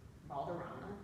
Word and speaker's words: Valderrama: For instance, my last name, Valderrama, which obviously I don't pronounce with the rule of R's, is Spanish, right?